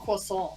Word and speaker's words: croissant: Croissant. It's croissant. Croissant, yeah. Croissant. That's how it's pronounced.